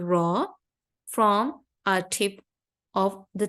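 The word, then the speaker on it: ر: Ra'sul lisan, from the Ra's, we are going to pronounce the letter Ra. Only Ra is going to be pronounced from the Ra'sul lisan, from the tip of our tongue, without involving any teeth.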